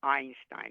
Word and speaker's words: Einstein: with the e but the first letter you actually hear is an eye Einstein you don't hear e